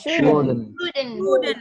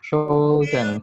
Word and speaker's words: shouldn't: Shouldn't. L-nya hilangkan ya. Shouldn't. L-nya hilangkan. Shouldn't.